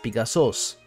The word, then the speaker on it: Pegasus: of Medusa and brother of the winged horse Pegasus which is actually pronounced pigasus kisa's name is particularly interesting because it either